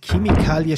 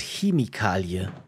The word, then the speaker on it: Chemikalie: Da haben wir es wieder mit Chemikalie statt Chemikalie. Sagt ihr auch Chemikalie? Interessant. In Bayern spricht man so gut wie alles, was mit CH beginnt, mit K aus. Chemikalie, China, Chemie, Chiemsee.